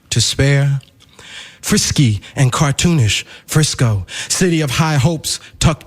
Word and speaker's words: Frisco: a piece he calls Frisco. Some say don't call it Frisco because it rhymes with disco.